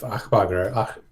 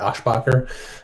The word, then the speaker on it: Aschbacher: It's Josef Achbacher. I don't know how to say it. Aschbacher, I think is how you say it.